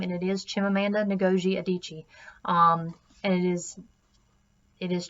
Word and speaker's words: Chimamanda Ngozi Adichie: editing and absolutely time to look up the pronunciation of this author's name and it is Chimamanda Ngozi Adichie and it is it is Chimamanda Ngozi Adichie just as a personal note to myself and